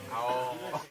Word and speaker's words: ahorro: It's pronounced ahorro.